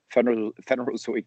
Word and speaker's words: Phanerozoic: You're actually not the only one having difficulty pronouncing the title. I can do it for you. It's Phanerozoic to Mesozoic, Cenozoic.